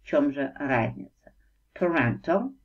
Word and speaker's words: parental: Parental произносится вот так, parental, relating to person's parent or parents, относящийся к родителю или родителям человека.